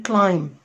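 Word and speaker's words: climb: زي كمان كلايم كلايم، هبص الاقي برضو البي سايلنت عشان وجود الاي.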